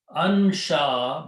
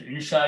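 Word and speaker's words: أنشأ: Do not say in because that meaning changes. Insha is totally different thing.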